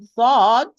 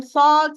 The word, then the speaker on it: ص: Sad, Sin, and Zay, they are pronounced tip of the tongue with the lower central incisor from inside, precisely the lowest part of the inner part.